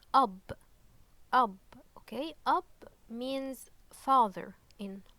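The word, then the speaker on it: أب: later on uh is bear so this is pronounced up okay up means father in Arabic okay so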